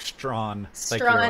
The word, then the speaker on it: Straughn: what is it astronomer but spelled like strawn my last name yeah it's